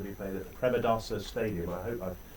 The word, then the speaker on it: Premadasa: this is going to be played at the premadasa stadium I hope I pronounced that correctly that's right that's premadasa Stadium um we had a quite a few